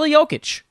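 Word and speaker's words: Jokić: joker gotta pronounce that gotta pronounce that j the right way nicole yokic why is there no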